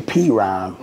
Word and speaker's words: PRhyme: And PRhyme was pitched, and he said, but we're not going to spell it P-R-I-M-E. We're going to spell it capital P, capital R for Premier Royce, and then the H-Y-M-E is for Rhyme. You know, and you're the second one to say P-Rhyme, which is PRhyme.